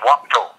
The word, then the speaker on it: Wapado: Yeah, but it's Wapado. Okay. It's the A is kind of silent in there.